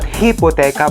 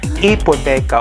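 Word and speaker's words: hipoteca: refer to housing okay it's not hippotecha but it's ipoteca although the first letter is letter h okay so that is a very important info that you have to know guys in spanish okay the letter h is okay is not sounded or it is silent okay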